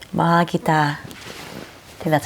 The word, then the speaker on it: Mahal kita: Like, Mahal kita. I think that's how you say it. how do you say it? Mahal kita. Maha kita.